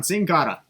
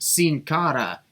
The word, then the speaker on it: Sin Cara: has locked in on singado man tonight's a weird night for pronouncing names it's pronounced sin cara i guess he's such